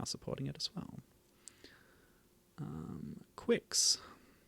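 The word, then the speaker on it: Qix: it as well um quicks so that's how you pronounce it Quicks I I didn't know if it was kicks or what anyway there's debate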